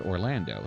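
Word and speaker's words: Orlandeau: I just got Orlando. Yes, it's pronounced Orlando, so I'm going to try him out.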